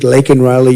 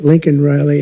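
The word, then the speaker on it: Laken Riley: brilliant 22-year-old nursing student lakan Riley you know lak very well now and after months of prodding him Biden couldn't pronounce her name he said uh he said Lincoln Lincoln Riley and Lincoln Riley is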